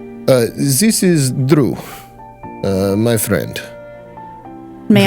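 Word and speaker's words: Druh: This is Drew, my friend. May I? Drew. It is not the normal spelling, but it's pronounced the same.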